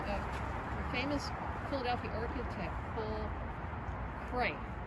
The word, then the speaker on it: Cret: This bridge was designed in 1927 by a famous Philadelphia architect, Paul Cray. I think it's pronounced Cray, C-R-E-T, and the engineer was Ralph Majeski.